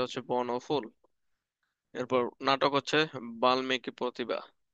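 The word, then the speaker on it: বাল্মীকি: বর্ণফুল এরপর নাটক হচ্ছে বাল্মিকি প্রতিভা উচ্চারণটা একচুয়ালি বাল্লী হবে ঠিক আছে কারণ ল সাথে ম আছে তার মানে ডাবল উচ্চারণ উচ্চারণ যখন পড়াবো তখন এটা শিখবা বাল্লিকি প্রতিভা আপাতত বাল্মিকি পড়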